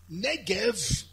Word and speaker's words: Negev: Negev, written but pronounced Negev, is the south.